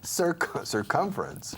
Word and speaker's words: circumference: Circumference. Circumference. Remember, you have Sir Lancelot and circumference.